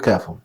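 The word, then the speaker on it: كاف: അതിന്റെ ഉച്ചാരണം ഒരു താഴ്ന്ന സ്വരമാണ്.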